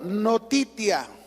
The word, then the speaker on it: notitia: El lo primero para definir la fe como debía de ser, ellos dijeron, "Lo primero, notitia." Así en latín, notitia. Así como te lo pronuncio.